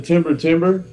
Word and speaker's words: Timber Timbre: Have you ever listened to Timber Timber? Timber Timber, no. Yeah, they're incredible, man. It's like ghostly, gospel, bluesy. It's spelled Timber Timbre.